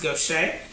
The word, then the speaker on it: Gautier: And so it's in a town called Gaucher, Mississippi. Gautier is pronounced Gaucher.